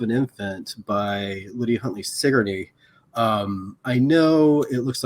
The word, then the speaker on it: Sigourney: is death of an infant by lydia huntley sigourney um i know it looks like sigourney but it's pronounced sigourney and the other is the slave mother by